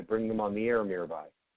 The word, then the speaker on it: Mirabai: Oh, Mirabai. Mirabai.